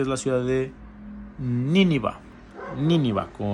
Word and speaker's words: Nínive: Nínive, con acento en la I, Nínive.